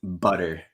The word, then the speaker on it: butter: would say better and butter so okay as you can hear right off the bat the t is anything but a t when I teach this